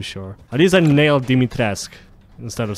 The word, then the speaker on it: Dimitrescu: I think I'm pronouncing the name right. I'm not too sure. At least I nailed Dimitrescu instead of saying Dimitrescu.